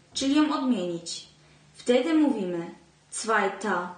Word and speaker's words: zweiter: Wtedy mówimy zweiter Mann, czyta się A, a nie ER, tylko ER się pisze, zweite Frau, zweites Kind.